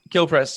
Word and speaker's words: Kilprez: i pronouncing that correctly is it kill prez or how is it how do you do it kill press yeah um so technically